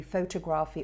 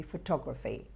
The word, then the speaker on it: photography: So it won't be calligraphy, it won't be photography, it'll be photography.